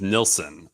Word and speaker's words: Nilsson: one, the only Ryan Nilsson. It's like Harry Nilsson, right? I mean, I am pronouncing it correctly after all this time, right? It's spelled a little differently, but you're right. It is Nilsson.